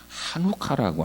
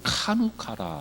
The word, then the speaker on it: 하누카: 이미 말씀드린 대로 히브리인들은 하누카라고 하는, 또 일부 카누카라 이렇게 발음하기도 하는데, 카누카 같은 얘기입니다.